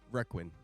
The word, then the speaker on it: requin: just Requin. Okay, that's how you pronounce I it.